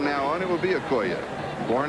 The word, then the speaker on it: Okoye: the years, you have heard this man's name pronounced Christian Okoye. We asked him yesterday because we heard that we had been pronouncing it wrong. He says, yes, he says, everybody has. The correct pronunciation is Okoye.